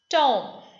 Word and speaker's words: tomb: Tomb.